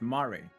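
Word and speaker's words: Mare Lamentorum: Much like the phantoms you encountered in I thought this was May, but it's not. It's Mari. It's pronounced Mari in Mari Lamtorum and the recreated Amu Amaroth.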